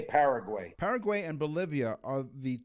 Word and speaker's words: Paraguay: It could be Paraguay as well. I've heard it pronounced like that, but we say Paraguay.